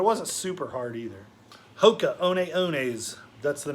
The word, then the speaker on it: Hoka One One: Hoka One Ones, that's the name of a shoe. It looks like it would say 1-1 if you were reading it in English, but the name isn't in English, and it's pronounced One One.